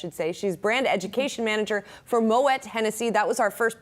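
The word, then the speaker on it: Moët: education, is that it is indeed Moet and not Moet, despite being French. Yes. Maybe because of the umlaut? Is that what's the... Yes, you're absolutely right. So Moet, you pronounce the T because the 2 dots over the E signify that you pronounce the T. It's Moet.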